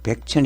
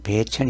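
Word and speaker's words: 배천: 지방을 말합니다 2배 1000이라고 한자로는 힘 백자 내 창 짤에서 백첸 이라고 쓰지만 은 이 시키는 배 천 이라고 읽어야 됩니다 지명이 이때는 요 그리고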